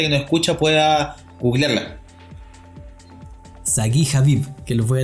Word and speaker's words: Sagi: No, es Sagi con G. Sagi.